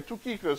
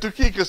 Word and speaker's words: Tychicus: Yeah, he mentions him one more time, and she actually said it the right way, Tychicus, right? I will send Tychicus to you. If you say it with an accent, you'll pronounce it right.